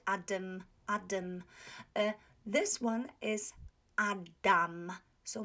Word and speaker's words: Adam: the first word adam a lot of native english speakers pronounce this word as adam adam so it's adam it's not adam the second ah if